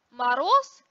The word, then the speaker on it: мороз: Когда парный звонкий согласный оказывается на конце слова, он произносится как глухой, то есть оглушается. Мороз произносится как мороз. Клуб как клуб.